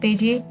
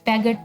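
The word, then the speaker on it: Piaget: अब देखो जीन पेजे था ना, ये पेजे है, पैगट नहीं है, ठीक है, इसको सही प्रोनाउंस करना।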